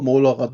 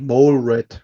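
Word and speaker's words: Molerat: TTS macht auch noch molerrad daraus aber eigentlich der eigentliche Wortlaut ist ja eigentlich mol red ja so ja eigentlich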